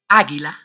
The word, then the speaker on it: águila: You don't pronounce the vowel U in all these words because the vowel U is after the consonants G, Q, and before the vowels E, I.